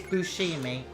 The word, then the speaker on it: Buscemi: buscemi guys it's definitely it definitely is bushing me that is how you say it that's how he says